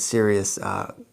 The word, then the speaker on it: Cereus: endless amounts of different cereus cacti, which is pronounced the same way as like you're being too serious, but it's C-E-R-E-U-S.